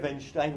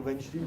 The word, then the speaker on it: Weinstein: Mais Harvey Weinstein ou Weinstein, ça dépend si on est juif américain ou juif français, comment on le prononce.